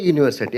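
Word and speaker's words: university: ಮುಖ್ಯ ಅಲ್ಲ ಉಚ್ಚಾರಣೆ ಮುಖ್ಯ ಇಲ್ಲಿ ಯೂನಿವರ್ಸಿಟಿ ಯು ಅಂತ ಬರೆದಿದ್ರು ಉಚ್ಚಾರ ಮಾಡುವಾಗ ಅಲ್ಲಿ ಯ ಕಾರವನ್ನು ಬಳಸ್ತಾ ಇದ್ದೇವೆ ಯ ಯ ಇ ಈ ಯು ಬಳಸ್ತಾ ಇದ್ದೇವೆ ಆ ಕಾರಣದಿಂದ ಯುನಿವರ್ಸಿಟಿ ಯ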